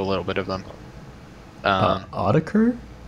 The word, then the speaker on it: Autechre: bit of them uh audiker is it audiker it's archer i'm pretty sure i'm a fake fan i'm pretty sure it's on it's pronounced archer but i don't know